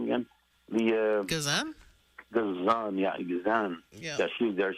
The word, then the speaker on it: Gazan: Gazan, Gazan.